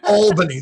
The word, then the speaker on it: Albany: There's only one L in Albany. There's not two L's. It's not all, but it's Albany, but but but you're right. It's you pronounce it all.